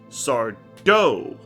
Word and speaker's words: Sardo: Let me make sure I say his name right. Sardo. He gets very angry when people don't say it right. Mr. Sardo. That's Sardo. Accent on the "do".